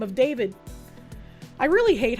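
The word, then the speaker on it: D4vd: the real name of David. I really hate how they do that considering his stage name is D4 VD and it's pronounced David anyways.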